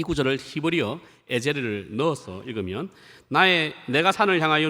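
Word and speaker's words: עֵזֶר: 근데 에셀로 우리가 한글로 되어 있지만 히브리어 발음은 에제르입니다. 이 에제르가 사용된 가장 유명한 구절이 오늘 우리 찬송 인도하셨던 분이 불렀던 곡이죠.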